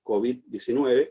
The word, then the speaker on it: COVID: en estos últimos meses, que la pronunciación más extendida es COVID, es decir, una pronunciación aguda y no grave.